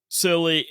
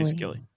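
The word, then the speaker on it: Scilly: However, the gap between silly skill see I I keep want to say skiilly. It's just silly. It's silly. No, it the lady really did pronounce it silly like like lol.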